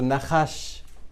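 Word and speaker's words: נחש: Aquí vemos cómo esto se ha desarrollado y esto se pronuncia igual que esto, Nahash, ¿vale? Y Nahash significa serpiente y esto es así como se escribe luego son letras hebreas, sino son arameas, ¿vale?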